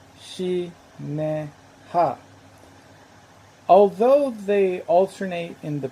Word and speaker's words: Shinehah: the pyramid text is spelled in a way that by abraham's time would have probably be been pronounced similar to shi ne ha although they alternate in